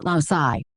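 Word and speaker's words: loci: The plural of locus is loai pronounced loai.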